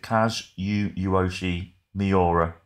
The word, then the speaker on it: Kazuyoshi Miura: No, how do you pronounce it? Kazuyoshi Miura.